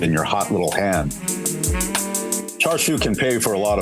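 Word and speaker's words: Char Siu: Charshu can pay for a lot of bills, but it moves absolution further out of your reach.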